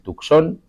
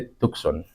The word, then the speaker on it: Tucson: Arizona tenemos el presidio de Tucson, y así se pronuncia. O sea, en español se pronuncia el Tucson y en inglés se dice Tucson. Entonces, si alguien les dice, como he escuchado por ahí, Tucson, no, olvídense. O sea, el inglés no es así, no tiene tantas reglas y no... A veces se pronuncia la U, a veces no.